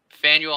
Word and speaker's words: Faneuil: there you go how do you say it faneuil hall samuel i got it right yep my